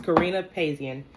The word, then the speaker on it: Karina Pasian: I never knew how to pronounce her name. It's Karina Pasian.